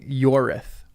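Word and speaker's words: Ioreth: Wait, pronunciation notes being Yorith. So not Ith, it's Yorith.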